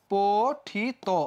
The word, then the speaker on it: পঠিত: যে ওকার হয়ে গেছে পঠিত শেষে কি যুক্ত আছে ভাইয়া ইত যুক্ত আছে তাহলে কি হয়ে যাবে হবে হচ্ছে পঠিত ওকার হয়ে যাবে গঠিত শেষে